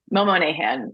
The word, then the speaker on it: Monahan: box um find me on there Mom Nan Momo nahan yeah is how it's pronounced like darbin um this is our first